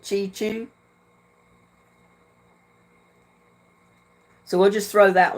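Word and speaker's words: Cheechoo: cre Indians Jonathan chichu it's spelled c h e e c h o o so I guess that's the way you pronounce it chichu so we'll just throw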